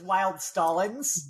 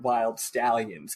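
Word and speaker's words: Wyld Stallyns: stalin's not wild i was reading it as wild stallings but they do they do the bill and tell my favorite communist bill and ted do pronounce it wild stallions but yeah obviously i could play on like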